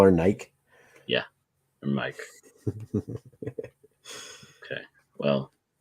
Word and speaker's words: Nike: be boxing them yeah my mom's name uh is nike like the greek god or the shoe but for some reason people couldn't understand that we call her nike yeah or mike okay